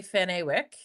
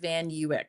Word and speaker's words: Van Ewyk: If it was my mother-in-law, she would say Van Awick. If it was my husband's auntie, it would say Van Vanwick. But, uh, my husband and I pronounce it Van Uick.